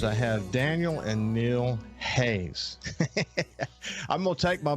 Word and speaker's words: Haas: I knew already, that it's not pronounced Haas. It's pronounced Hayes. It's just a unique pronunciation that this family has.